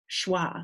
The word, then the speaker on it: schwa: tell you to make a weak vowel sound like banana so if you looked up a banana in the oxford english dictionary for instrument instance in in the pronunciation guide for a word like banana there will be a wah in those two weak syllables how about them apples